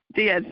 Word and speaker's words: Diaz: on the show oh you are welcome I pronouncing your last name correctly is it Diaz yes Diaz okay um I um I know you're in